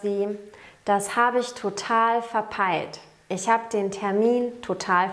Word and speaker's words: verpeilt: Auf Schweizerdeutsch sagen wir, ich habe es total verpeilt. Ihr merkt, dass sich die Aussprache des EI unterscheidet. Auf Schweizerdeutsch sagen wir ein E und ein I. Es entsteht kein neuer Laut wie im Hochdeutschen.